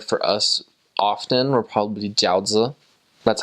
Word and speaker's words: jiaozi: So something that the Chinese members prepared for us often were probably jiaozi.